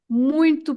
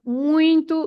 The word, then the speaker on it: muito: When you are introduced, you can say nice to meet you, and you should say muito prazer.